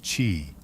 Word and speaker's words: qi: It was about energy, the invisible, vital force called qi, pronounced qi, flowed through every living being.